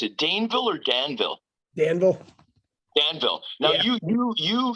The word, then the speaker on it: Danville: one thing so james dave how do you pronounce it daneville or danville danville danville now you you you you did some